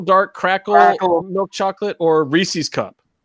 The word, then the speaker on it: Reese's: cracker milk chocolate or Reese's Cup Oh Reese's it does not rhyme with feces you know my friend